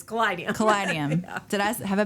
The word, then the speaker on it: Kaleideum: cadium for pronunciation purposes okay yeah people do pronounce it cadium but it's not cadium it's cadium cadium did I have I been saying C